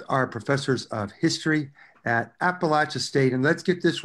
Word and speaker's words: Appalachia: go of it though some people say if you are in sort of the northeast then it does become appalachia do you agree with that no you know i heard that yeah i think it's appalachia the whole spine of the mountain chain so yeah yeah our